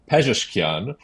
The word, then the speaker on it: Pezeshkian: And John, I'm so glad that you let me look up how to pronounce this gentleman's name as I'm introducing him. So Masoud Pezeshkian, a former heart surgeon, will become Iran's next president.